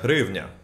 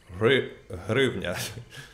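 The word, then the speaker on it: hryvnia: the ukrainian money it's it sounds like rivnya in ukraine offices rivnya it's uh if you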